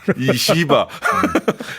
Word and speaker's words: 이시바: 일본, 이시바, EU. 이하고 시바를 띄면 안 돼요. 붙여서 발음하세요. 붙여서.